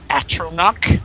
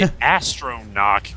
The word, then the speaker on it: Atronach: There isn't another R, so I don't know why I say that. I always say astronach, which I don't know.